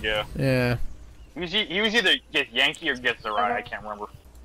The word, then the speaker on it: Githyanki: Githyanki, that's how you pronounce the full Listen.